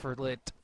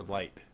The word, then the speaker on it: l1t: now, have we decided how to pronounce this? Is it lit or light? Lit? I think it's lit. Yeah, I've been hearing everyone pronounce it as lit. So. Pretty I sure believe it's a yeah, it's lit up, like as in a drug reference.